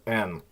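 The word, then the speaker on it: Н: The next one is N, which looks like an H, but it's pronounced like an N. And again, this comes from Greek, but I put it in this category just to clear the confusion. It's an N.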